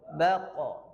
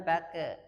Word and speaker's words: baqa: Qa, qi, ku, baqa. Bukan baka.